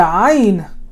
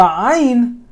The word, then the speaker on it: ayn: The ayn, you want to imagine you want to feel your Adam's apple when you're saying ayn. And when you're saying it correctly, your Adam's apple is going to go up. Ayn. Your Adam's apple is going to shift up and down when you say ayn.